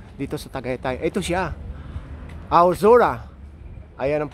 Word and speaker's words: Aozora: Ito siya, Aozora. Ayan ang pronunciation niyan.